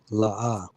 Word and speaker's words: La'ah: It's pronounced la and pronounced ah. All right. Just like you have the con is pronounced together. So when you see the happy face, right, which is this, that means it's pronounced together, which is con. Now for this, it's pronounced separate. La, and ah.